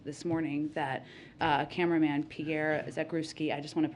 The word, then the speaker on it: Zakrzewski: CEO of Fox this morning that cameraman Pierre Zakrzewski, I just want to pronounce his name the right way.